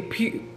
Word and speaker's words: pecan: And he was like, yeah, we say pecan.